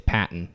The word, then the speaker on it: Patton: Here's why I say it's Patton. Because one, it's spelled Patton. P-A-T-T-O-N. That's a gimme. Patton. A baton.